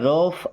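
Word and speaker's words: rough: आर ओ यू जी एच देखिए ये जो जी एच है इसे क्या पढ़ते हैं? फ क्या बन जाएगा? रफ। इसे रूफ या रफ ऐसा नहीं पढ़ना है। क्या पढ़ते हैं? रफ।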